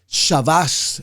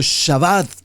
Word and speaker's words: Shabbat: Esta palabra Shabbat en hebreo, Shabbash, el Yadis, o Shabbat, como básicamente lo pronunciamos nosotros en español, encontramos el Shabbat ya